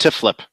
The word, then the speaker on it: TFYLP: It's pronounced Tiflip. Tiflip. Okay. Tiflip.